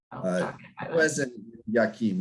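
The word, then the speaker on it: Jachin: Uh, well, no, the the names Boaz and Yakim or as we still call them, jock, but Yakim is you're correct on on the pronunciation.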